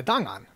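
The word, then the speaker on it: 档案: Yeah, Dang'an. You know, I'm not Chinese. Are you guys, sure so. that that's how it's pronounced?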